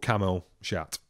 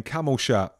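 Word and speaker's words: Camille Chat: size of a truck called camel shot I mean camel sure I think it's pronounced camel or Cam Welsh at absolutely nothing I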